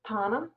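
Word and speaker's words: Thaana: You might enjoy looking at the Devehi script, Tana, that's spelled T-H-A-A-N-A, because it's also a remarkable rupture.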